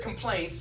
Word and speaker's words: complaints: When you said complaints, I heard the word compliance. Yes. Right, which sounds like obey. It's a slightly different word. Yeah. Complaints, two syllables. Compliance, 3 syllables.